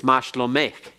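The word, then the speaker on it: מה שלומך: So, if, for example, if I say mashlomek, that's how are you to a woman. It's not mashlomek, all right? It's mashlomek. It's softened a little bit. It's almost like the cheth.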